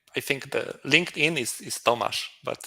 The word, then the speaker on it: Tomasz: Tomasz, but There you it's go. it's very hard to pronounce, so everyone call me Tomek because it's Okay.